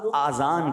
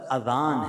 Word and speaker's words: اذان: بعض لوگ آذان کہتے ہیں، یاد رہے پہلے اذان کہتے کس طرح ہے، اس کا تلفظ سے بچ لیں. آذان اذن کی جمع ہے، اذن کہتے کان کو، یہ آذان نہیں ہے، یہ لفظ اذان ہے، ٹھیک ہے.